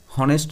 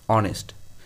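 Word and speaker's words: honest: এখানে কনসোনেন্ট আছে, তা সত্ত্বেও এ না হয়ে অ্যান হয়েছে কেন বলতো, কারণ উচ্চারণটা ভাওয়েল দিয়ে শুরু হচ্ছে, হনেস্ট নয়, উচ্চারণটা হচ্ছে অনেস্ট, তার জন্য এখানে অ্যান হয়েছে।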